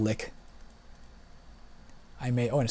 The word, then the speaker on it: Lich: the Lich or lick I've always pronounced it Lich I think it's pronounced to lick I'm a hoe and